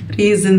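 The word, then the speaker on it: reason: الاو سايلنت كده اوكي زي الين ايرن حديد ريزن سبب ك ريزن طب تقرير ريبورت ريبورت ريبورت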